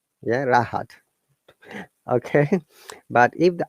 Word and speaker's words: Rahat: What happens if S R at the beginning of a word, we must pronounce it, like my name. Yeah, Rahat.